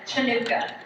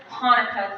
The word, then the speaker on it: Hanukkah: In your program, it looks like it says Chinooka, and I know it does, but it's actually pronounced Hanukkah Festival.